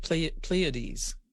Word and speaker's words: Pleiades: Now I just realized I didn't pronounce that right. Pleiades.